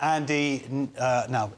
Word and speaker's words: Andy Ngo: Yeah, well, this is quite interesting because the influencer Andy, now you'll know this, how to pronounce this.